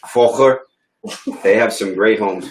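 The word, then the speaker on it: Völkers: Did I pronounce that right? I think it's an F. Volker.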